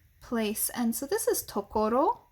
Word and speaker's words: 所: and so this is tokoro like we talked about much earlier in the year like uh uh it can also be pronounced sho um like in g